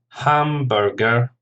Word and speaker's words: hamburger: Hamburger, 3 syllables, hamburger.